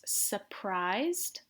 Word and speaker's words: surprised: say I'm surprised and remember we don't really pronounce the R it's surprised I'm amazed or you could